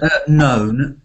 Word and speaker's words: known: mystery she's she's looking when you say known don't make it sound like noun but make it sound like phone known known she's look